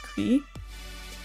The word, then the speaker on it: Gris: Gris is pronounced Cree. Is it? Whoops, I mispronounced that.